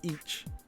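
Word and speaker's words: いち: pronounce it like uh one here in Japanese is written in the English translation ich I hi I but they will pronounce it ich just one vow one consonant so the other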